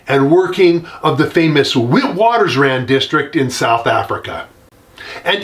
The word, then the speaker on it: Witwatersrand: pronounce it more like Witwatersrand. But I'm American and I pronounce things the American way because I live in America. And so we're going to call it Witwatersrand because that's how it's normally pronounced here.